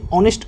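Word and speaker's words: honest: সৎ এবং পার্সন ব্যক্তি তাহলে হি ইজ অ্যান অনেস্ট person তিনি একজন সৎ ব্যক্তি এখানে দেখো এই যে অনেস্ট রয়েছে এর আগে আমরা এন আর্টিকেলটি বসিয়েছি এখানে এন আর্টিকেলটি কেন বসলো দেখো এই যে অনেস্ট শব্দটি রয়েছে এখানে এইচ দিয়ে শুরু হয়েছে হয়েছে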